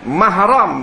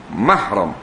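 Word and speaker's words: مَحْرَم: Mahram baca baris di atas. Mahram. Muhrim baca dammah.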